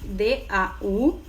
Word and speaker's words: daughter: Como se pronuncia a palavra que significa filha e se escreve D-A-U-G-H-T-E-R?